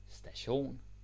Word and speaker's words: station: it is belet St station station now whenever you have a Danish word in almost every case and it ends with i o n e o n then you have the stress on that you see a lot